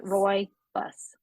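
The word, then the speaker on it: rooibos: say this Roy buus Roy like Roy bus royy bus okay it's um a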